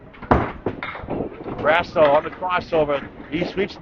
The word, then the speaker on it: Grasso: Another high character person here, Tom Grasso, true gentleman. Grass with an O.